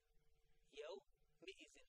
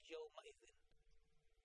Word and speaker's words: يومئذ: Yaw mi'izin, not Yaw ma'izin.